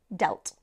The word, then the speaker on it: dealt: economy it damaged it notice here how the past form of deal is dealt which has a different pronunciation so we're going from The Sound e to the sound e yes we have deal and delt okay let's look at